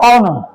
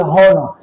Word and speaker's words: honor: So, because they are silent, it is the next vowel sound that will be pronounced. Example is an honor. It is not a It is not a honor.